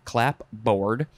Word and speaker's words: clapboard: Three, this would be definitely pronounced clapboard, a pair of hinged boards, one of which